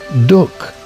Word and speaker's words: duck: In Darbisha and in Yorkshire, duk is pronounced with the U sounding like a U, not an A.